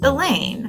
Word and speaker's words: Elaine: or any class and elaine rhymes with pain the unteachables have been